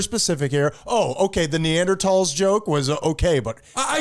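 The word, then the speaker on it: Neanderthals: that it is the the actual pronunciation is neander TS all right we can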